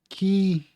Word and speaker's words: Kyiv: It's Kyiv, and how you pronounce the capital of Ukraine.